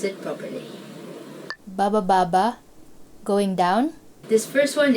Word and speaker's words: baba baba: Baba baba, going down. This first one is actually a sentence and it's just made of one syllable, which is ba.